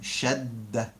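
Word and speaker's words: شدّة: And a shadda, even in the name, shadda, it's a double d, shadda.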